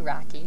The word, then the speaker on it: Rocky: a great pleasure and why don't you say your last name because i think i mispronounced it i don't remember but it's rocky rocky and this